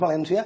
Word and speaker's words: Valéncia: Per tant, si els valencians, pel nord, des de Vinaròs, al sud fins a Crevillent, si la pronúncia general valenciana és València, quina ha de ser la grafia?